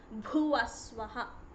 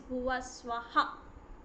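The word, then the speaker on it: भुवः स्वः: Again it is not bhuvaswaha, it is bhuvaswaha. Om bhur bhuvaswaha. Swaha. Swa. No, it is not bhuvaswa, it is bhuvaswaha.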